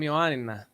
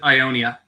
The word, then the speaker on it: Ioannina: Oh, I'm from Ioannina. Ioannina. What is that? Ioannina. It's Ioannina? Did I say that right? I think English a-holes pronounce it Ionia.